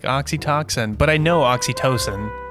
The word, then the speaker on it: oxytocin: it was spelled oxytocin it's just how it's pronounced oxytocin and she said oxytoxin like you could just it was just a